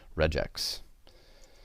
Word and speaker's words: regex: common abbreviation for regular expressions you should usually pronounced a regex it's going to be equal to this slash